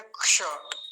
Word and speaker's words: क्ष: तो इसका उच्चारण कैसे करेंगे, क्ष। क्ष, क की आवाज तो बहुत थोड़ी सी आएगी, या फिर इसकी अच्छी आवाज तो तभी आती है जब ये किसी के साथ जुड़ा होता है।